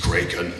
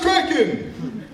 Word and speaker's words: Kraken: dislikes smoke to the end good night sweet kren it's pronounced Kraken now I will give him this he used